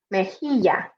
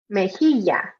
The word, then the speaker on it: mejilla: Okay, next on to teeth, dientes, dientes, cheek, mejilla, mejilla, or mejilla, or mejilla. Again, depending on how you pronounce it.